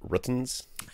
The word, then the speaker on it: Rtings: It's pronounced Ruttons.